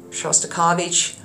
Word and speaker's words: Shostakovich: again you have to roll your RS uh shastovich shastovich again you can see how much more